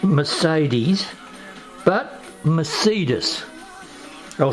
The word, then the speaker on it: Mercedes: that as written here as pronounced by a German speaker in fact that was